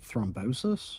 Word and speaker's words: thrombosis: Is Is thrombosis the right word or is that called something else? Because it's it's that in German. Have I been saying it wrong the entire time? Hold on. What? Thrombosis? Yeah. No, that's how you say it.